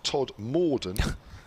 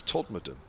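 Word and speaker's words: Todmorden: air rick hutton says it's not todd morden you may be thinking of the station on the other end of the northern line from me it's todd madden he says enjoying the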